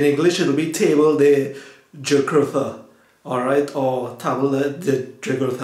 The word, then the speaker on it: Jugurtha: Alright, am I pronouncing it well, Jugurtha? Yeah, it's good. It's Jugurtha.